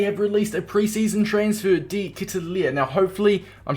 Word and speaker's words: De Ketelaere: released a pre-season transfer D kitalia now hopefully I'm pronouncing that somewhat greatly in fact Let me give the correct pronunciation up now according to the man himself it is Charles de Castle uh I'm just gonna